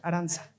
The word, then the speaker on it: Aranza: Según recordamos, le quiero ceder el micrófono a Aranza, ¿se pronuncia Aranza o Arancha? Aranza.